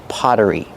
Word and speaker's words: pottery: It's just pottery. Pronunciation. The double T makes a fast D sound because it's between vowels. Potta, potta, pottery. Then use the sound like in burger with that voiced R. Together, potter, pottery.